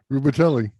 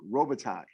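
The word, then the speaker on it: Robitaille: played with jesus oh chad say his name rubatelli rubitelli because he pronounced every letter exactly how it is how it's spelled the man's name is luke robitaj okay but it's not rosa that was it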